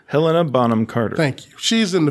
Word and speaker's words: Helena Bonham Carter: Helen Bonham Carter. Say her name? You want to try that again? Say it for me. Take 2. Helena Bonham Carter.